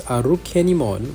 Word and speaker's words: Arukenimon: version of its name so if you pronounce it the Japanese way it should come out as arukenimon which is how they